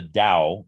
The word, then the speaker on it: Dao: something known as the dao and by the way just to be clear i'm saying it with a d sound because that's the proper pronunciation but it's usually transliterated